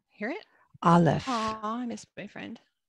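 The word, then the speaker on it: אלף: And Aleph. Hear it? Aleph.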